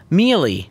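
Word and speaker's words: mielie: And maize, in some countries, is known as mealie. Is that crazy? Up. I'm serious. It's spelled M-I-E-L-I-E.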